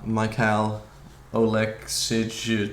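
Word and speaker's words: Oleksiejczuk: But moving on, GM3 versus Michal Oleksic, you know? And that is how you pronounce it.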